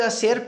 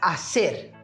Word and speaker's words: hacer: A primeira delas é a palavra hacer, no qual nós temos a pronúncia da letra H, que em espanhol simplesmente não é falada, né?